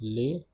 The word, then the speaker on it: les: The pronunciation of today's topic is les. Because of the liaison rule, S will get connected with this A, zad, adjective, demonstrative.